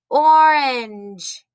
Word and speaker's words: orange: the letter o orange orange now this letter o is making a different sound we usually say o says ah like oswald but there are some colors like orange or oranges that you eat or